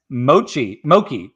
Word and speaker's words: mochi: Mossman's Mochi. How's that pronounced?